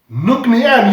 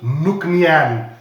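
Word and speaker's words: Nc'nean: an n and then you will go like nuknian eureka you've just pronounced the name of this distillery correctly it's called nuknian that's how you pronounce the name of this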